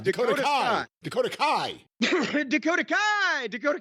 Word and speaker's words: Dakota Kai: name that's hurt Tegan Knox no that's Dakota Dakota Skai Dakota Kai Dakota Kai Dakota Kai Dakota Kai do you